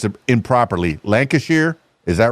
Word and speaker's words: Lancashire: to know and I know I'm probably gonna pronounce it improperly. Lancashier.